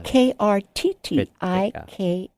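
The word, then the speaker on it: Krittika: And that's the Kritika. Is that how you say it? Yeah. Krttika.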